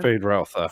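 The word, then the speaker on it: Feyd-Rautha: Is that how you pronounce that again? Fade Routha, Fade Routha.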